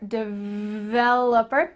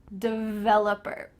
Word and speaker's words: developer: i'm a web developer make sure that when you pronounce this that v has some vibration here developer if you have any